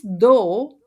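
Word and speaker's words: 道: It's the Tao that we pronounce as Do, and it's Hmm.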